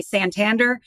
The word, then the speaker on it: Santander: it three times and when I finally say Sant Tander everyone's like oh sander okay but yes you